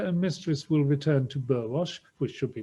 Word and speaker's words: Burwash: and mistress to bateman's burwash of which the proper pronunciation is barrage would tomorrow devotedly return